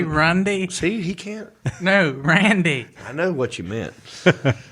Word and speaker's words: Randy: He said practicing his Randy Savage elbow, but he pronounced the word Randy Rundy. Did I say Rundy? See, he can't. No, Randy.